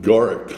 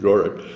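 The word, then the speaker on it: Gourock: In Gorrick, Scotland, Gorck. Okay. That's the way they pronounce it, Gorrick.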